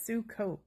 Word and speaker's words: Sukkot: It says sukkot. That's how you pronounce it.